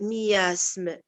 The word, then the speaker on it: miasme: Si on lit le mot de miasme, mi aussi c'est une syllabe, as c'est une syllabe. D'après ce qu'on vient de lire. Oui. Consonne voyelle c'est une syllabe, voyelle consonne c'est une syllabe. Alors pourquoi il n'a pas séparé mi as? Exactement, oui. Parce que c'est ça la diérèse, ce qu'on est en train de voir, c'est les voilà, deux. Mi as les et deux aussi ensemble.